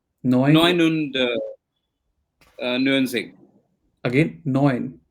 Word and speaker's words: neun: So whenever you have Neun und. it is oi, oi, euro, neun, Yeah. neun Neun und Music. again neun, not noon, neun.